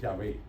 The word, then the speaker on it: Yahvé: Claro está, nosotros no sabemos si verdaderamente es el nombre, porque el griego antiguo solamente escribía las consonantes, no las vocales, y entonces ese esa pronunciación se perdió. Eh, pero los estudiosos dicen que lo más probable era la a y la e.